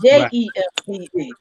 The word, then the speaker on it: djembe: You know, how come it's spelled DJEMBE, but it's pronounced JEMBE?